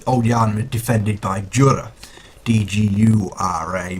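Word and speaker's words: Djura: Now, as you heard there at the start, Old Yharnam is defended by Jura, D-G-U-R-A, but obviously you don't pronounce a D in like the Django Unchained. Doesn't sound right.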